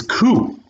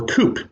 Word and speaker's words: Coup: Number 95 is Coup, or Coop, if you don't know how to pronounce the word coup.